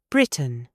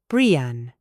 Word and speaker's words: Britain: Try it. Button, buon, cotton, koon, Britain, Brian.